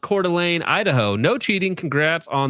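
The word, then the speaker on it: Coeur d'Alene: See, I knew that it was Cordelane. So, listen. If I didn't know that it was Cordelane ahead of time, I would have been like murdered, okay, on stream with that pronunciation.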